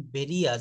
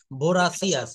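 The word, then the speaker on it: voracious: এটা ভেরিয়াস না বলেছেন ভেরিয়াস। এটা উচ্চারণ হবে ভরাসিয়াস।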